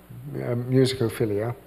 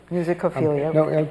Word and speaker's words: Musicophilia: Musicophilia. Musicophilia.